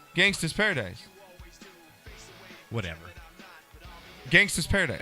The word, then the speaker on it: gangsta: judges have said that you didn't pronounce it right it's gangsta no clue as opposed to gangster and they know $3,200